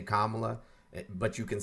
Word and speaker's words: Kamala: time to be respectful her name is kamla or VP Harris and if you're not